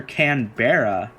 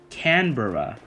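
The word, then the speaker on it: Canberra: Turns out the way you pronounce it is Canbor Canbor. I I the Barra part is not not Barra. It's bur Canbor. So I'm sorry.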